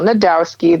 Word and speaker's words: Najdowski: I am Adel Najdowski. The J is silent. A lot of people mix that up, so there you go, some clarification on my last name.